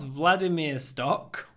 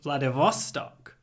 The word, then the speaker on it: Vladivostok: Not Vladimirstok. What? Our final destination is Vladivostok. Got it. Vladivostok. So we move the stress. We don't say Vladivostok. We say Vladivostok.